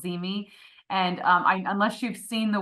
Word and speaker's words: ZeeMee: Cheryl brought up a program called Zeme, and unless you've seen the word, you might not realize how to spell it.